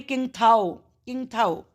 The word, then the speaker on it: Ningthou: इन मणिपुर में कांगलेपाक जगह पर there lived A निंगथो एंड A lemma. एक किंगथो ऐसे बोलेंगे किंग थाओ और एक लेमा रहते थे।